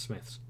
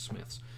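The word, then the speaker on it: Smyths: I think it's Smiths. I think the Y throws people off, and I'm fairly certain it's Smiths. Smiths Toys. I didn't realise they sold D&D books. There is a Smiths near me.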